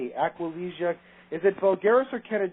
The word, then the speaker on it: Aquilegia: Can you spell it, please? It starts with the letter Aquilegia. Aquilegia.